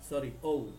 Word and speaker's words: ও: তো আও এর জন্য অবশ্যই আপনার থেকে জি প্রেস করতে হবে, তারপর শিফট ধরে এক্স, আও, ও, এটার উচ্চারণ হবে ও, আও হবে না।